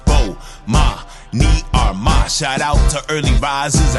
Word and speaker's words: Bomani Armah: to the morning announcements imma say my name so you can pronounce it oh ma me are my shout out to early